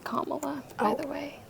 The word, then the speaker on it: Kamala: it's hard talking politics I watch all of Camila um interviews her name is pronounced Kamala by the way K La really comma I